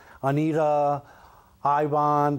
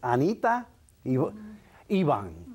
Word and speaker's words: Anita Iban: Tenemos a Anita Iban. Did I say it right? Yes. Important to pronounce those names, right, Anita? Because some people call you Anita, Ivan, but no, it's Anita Iban, okay?